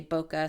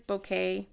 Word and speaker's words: bokeh: word some people say boka some people say bokeh apparently is a Japanese word and it is bokeh but hey that's what